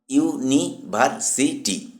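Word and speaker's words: university: সে একজন বিশ্ববিদ্যালয়ের ছাত্রী বাক্যটিতে ইউনিভার্সিটি শব্দটি ইউ দিয়ে শুরু হলেও উচ্চারিত হয় ওয়াই ইউ ধ্বনিতে যেমন ইউনিভার্সিটি আর যেহেতু ওয়াই একটি কনসোনন্ট সাউন্ড তাই এান ইউনিভার্সিটি ভুল হবে। সঠিক বাক্যটি হবেশি ইজ এ ইউনিভার্সিটি স্টুডেন্ট।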